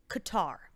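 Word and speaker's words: catarrh: a giant splash of Qatar, which is spelled C-A-T-T-A-R-H. The ship flies over the skies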